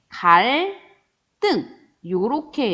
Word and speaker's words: 갈등: 친구 사이의 갈등을 잘 해결해야지 라고 했을 때 갈과 등이 합쳐진 한자어인데 리을 뒤에 디귿이 오기 때문에 갈등 요렇게 읽어주는 거고요.